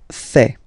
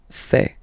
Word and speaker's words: fais: So le verbe faire, je fais. Je fais. Remember, final S not pronounced.